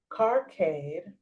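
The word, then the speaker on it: karkade: Um, in ancient Egypt, habiscus tea or uh, carcade, it's spelled K A R K A D E.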